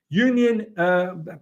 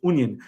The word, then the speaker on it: Union: Next up, ladies and gentlemen, Union, actually it's pronounced Union.